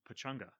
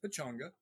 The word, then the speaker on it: Pechanga: make jokes when um because it's pronounced pechanga that's the proper way to pronounce it but i know that everybody pronounces a pachanga so when i'm you